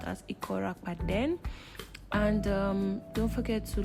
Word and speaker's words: Akwa: On today's vlog, I'll be taking you guys on my trip to Akwa Ibom, Akwa, but it's pronounced as Akwa.